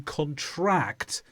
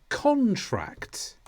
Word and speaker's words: contract: have two syllables but the pronunciation of the words is different according to the stress we put on a particular syllable in the word listen carefully a contract that's the piece of